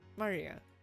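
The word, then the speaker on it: 真里亞: Of course, kanji is pronounced Maria.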